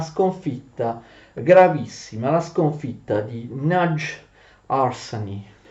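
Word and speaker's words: Nagyharsány: gravissima, la sconfitta di Nagy Arsani. In ungherese si pronuncia più o meno Nagy Orsany.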